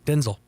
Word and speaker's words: Denzel: that Denzel Washington that we've been saying his name wrong this whole time? Oh, yeah. Yeah. What is it? Denzel. Denzel. Denzel. Like Vin Diesel.